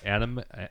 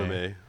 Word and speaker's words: anime: Anime. Somebody is it anime? I think I heard people say anime. Anime. Oh. Yeah, because anime is short for animation, which is an English word.